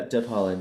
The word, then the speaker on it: Deb Haaland: Yeah, Deb Haaland.